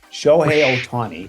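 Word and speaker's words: Shohei Ohtani: Shi Otani. Show Otani.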